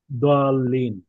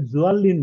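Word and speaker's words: ضالين: দিয়ে, ফলে ও দোয়াল্লিনকে অনেকে জোয়াল্লিন বলে। এটা আমাদের বাংলাদেশেই তো আমরা এটা শুনেছি। স্যার মানে ঠিক জল্লিন না, মানে দদ এমন একটা অক্ষর যেটা দ এবং জয়ের মাঝখানে, মানে অক্ষরটা খুবই এক্সেপশন, মানে একদম আলাদা। আরবি ভাষাকেও কিন্তু ওই যে লুগাতু দদ বলা হয়। হ্যাঁ, মানে এই অক্ষরটা দদ এমন ভাবে উচ্চারণ হয় যেটা অনেকটা জদের মতো শুনতে।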